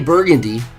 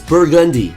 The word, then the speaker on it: Burgundy: But when I say Burgandy, it sounds like Gen, G-A-N. This whole time it's Burgundy. So now I have to change the way I pronounce the word.